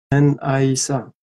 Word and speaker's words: Naisa: Pronounce the I like I. Okay. Aisa. N-Aisa. N-Aisa. Naisa. Okay, I got it.